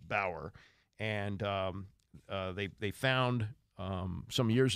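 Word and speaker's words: Bowyer: His name is Bower, B-O-W-Y-E-R. I believe it's pronounced Bower.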